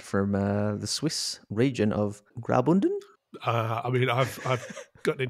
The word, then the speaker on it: Graubünden: Well, it's made from granite from the Swiss region of Graubünden. I mean, I've gotten in trouble for my pronunciation in the past, but yeah, Graubünden.